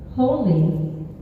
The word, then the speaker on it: Holi: say something about holy holy as you know if you don't know how to spell it it might sound like h o l y and it's h o l i but it's the same because it is God